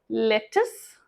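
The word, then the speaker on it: lettuce: इसे हम दो तरीके से बुला सकते हैं, लेटस, लेटस, लेटस या लेटिस, लेटिस, लेटस, लेटिस.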